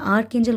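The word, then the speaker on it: Archangel: ठीक है याद रखिए देखिए इनकी स्पेलिंग भी पढ़िए क्योंकि अगर आप गलत प्रोनाउंस करेंगे तो वो भी अच्छी बात नहीं है अगर आप सही से इनका नाम लेंगे तभी फायदा है तो आर्केंजेल माइकल है ठीक है यह बहुत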